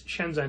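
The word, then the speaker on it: Chenzen: um i believe it's shenzhen is how they're pronounced such transgender shenzhen is just a place in china right but this is spelled differently but pronounced the same way c-h-e-n-z-e-n oh weird okay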